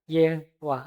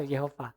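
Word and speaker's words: YHWH: itu kalau di Perjanjian Lama disebut dengan ye wahah WH. Agak susah bacanya ke bahasa Indonesia kalau sebenarnya bacanya itu ya karena enggak ada huruf hidup bisa saya sebut dengan manya tanpa pakai huruf hidup enggak bisa yang itu huruf nafas semua itu makanya susah diucapkan. Nah, kalimat yang agak kalauus disisipkan huruf hidup jadi kata Yehua atau Yehova.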